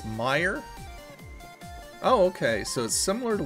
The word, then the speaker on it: Meijer: know what that is how do you pronounce that mayor mayor is a store similar to Walmart as prevent oh so it's Meijer oh okay so similar to Walmart I've never